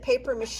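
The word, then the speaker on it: papier-mâché: i'm going to shred it up remember that paper mache is actually from the french and uh it's spelled papier p-a-p-i-e-r mache m-a-c-h-e with the little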